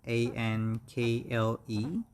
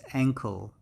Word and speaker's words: ankle: this is our ankle a-n-k-l-e and the phonetic symbol looks like like that so it's we have a stress on the first syllable so it's a and um so it's ankle ankle and this is the